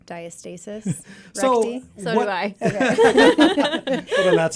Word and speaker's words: diastasis: um it's either called diastasis or diastasis it's kind of pronounced both ways okay but I I tend to say diastasis re so do I